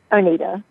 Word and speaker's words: Oneida: Our expert, Oneida, or is it Juanita or Wine? Do you mind telling me your last name? Oneida. Oneida. Thank you. Oneida. I want to make sure I'm pronouncing things correctly.